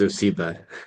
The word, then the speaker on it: OSEBA: Yeah, yeah, and I know the name is long, and the acronym is we it's pronounced OSEBA. That's what we call ourselves. We go by OSEBA, but you're right.